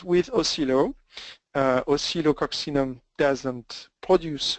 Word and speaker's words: Oscillococcinum: main medicine, which is Oscillococcinum. It's impossible to pronounce, so cut it in 2, Oscillo, and you can even say Oscillo, people will understand. Oscillococcinum.